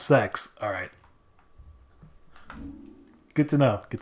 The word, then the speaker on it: CeX: Do you pronounce that as sex or CEX? Or kex? I need to know once and for all. I need to know if I'm saying it right. Is it spelled like the fuck word? It's pronounced sex.